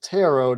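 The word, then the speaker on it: Turo: the pronunciation it is tarot despite it being spelled t-u-r-o so in case there's any confusion t-u-r-o but not pronounced like burrow with tarot you can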